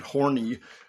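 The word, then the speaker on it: Horne: It's Horn. You of course that's what it's going to be. They it was because of his name. So, and it's spelled H O R N E.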